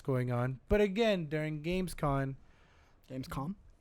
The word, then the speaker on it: Gamescom: But again, during Gamescom, Gamescom. Gamescom? Am I saying it right? Con. Gamescom. Sorry, I'm saying con like convict.